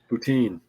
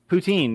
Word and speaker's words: poutine: thing with like mayonnaise poutine poutine yeah that's it and the first time somebody said the name poutine i thought they were being goofy and just making a strange pronunciation of putin are you talking about